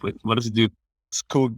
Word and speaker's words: Skoog: Skoog means forest in Norwegian, but it spells with one O. We put a double O both because we want that infinite loop, but also so foreigners can pronounce it a little bit more like it sounds in Norwegian.